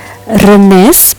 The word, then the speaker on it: Rennes: Rennes, pengucapan Prancis Rennes, adalah sebuah kota di timur Britania di barat laut Prancis pada pertemuan Ille dan Vilaine.